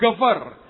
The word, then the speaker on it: geber: Yang ketiga, orang menyebut dengan kata gover. Tulisannya geber, bacanya gover.